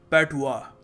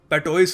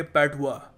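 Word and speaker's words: patois: पता कैसे करते हैं इसको प्रोनाउंस करने का सही तरीका है पेटुआ जी हां पेटोइस नहीं है जैसे लिखा है यहां पर हम इसको प्रोनाउंस करेंगे पेटुआ ठीक है यह बेसिकली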